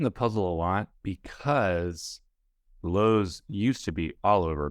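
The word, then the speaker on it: Loew: movie theater eponym and it's low which is spelled l-o-e-w and just that just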